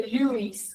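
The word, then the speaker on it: Luys: están los cuerpos de Lewis. Lewis se escribe L-U-Y-S. Es como un Luis, pero Lewis, con una Y.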